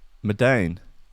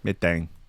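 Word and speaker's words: Medellín: I think the L is silent. Medellin. Yeah. Medellin.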